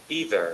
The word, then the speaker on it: either: either, ஈதருங்க, நம்ம எய்தருங்கிறோம்.